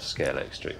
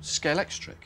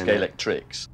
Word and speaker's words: Scalextric: And Scalex plus electric became Scalextric. And that's why nobody can pronounce it properly. Well, they all do it the wrong way around, yes. Everyone says Scalextrics.